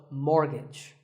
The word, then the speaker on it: mortgage: buy a house so which letter is silent here it's the T the first syllable is more and the second is gitch so mortgage number 27 is this